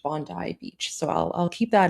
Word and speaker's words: Bondi Beach: Now, I I did pronounce it Bondi Beach in in my video where I spoke about it, um but I was corrected. Um I was told by Australians it's pronounced Bondi Beach.